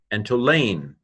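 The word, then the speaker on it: ἐντολήν: Epsilon nu tau omicron lambda eta nu, entolane, commandment.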